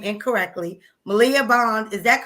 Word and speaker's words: Maliah Bond: Maliah Bond, always pronounce her name incorrectly. Maliah Bond, is that correct?